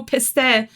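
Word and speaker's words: پسته: STI that is like oh Pista that's how you say it in farsy is Pista is always like such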